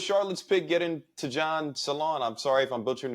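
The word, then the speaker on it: Salaün: Salami? Salon. How do you pronounce Dijon Salon. Like you get going to a salon or something like that. That's how you should say it.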